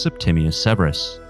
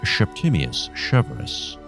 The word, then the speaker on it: Septimius Severus: his Punic accent, and it's been suggested that he pronounced his name, not unlike Sean Connery, as Septimius Severus.